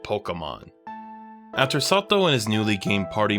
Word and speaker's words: Satou: Arisa pronounces his name Sato correctly. Sato-sama? 今 Up until now, Sato and the native population have been pronouncing his name Satu.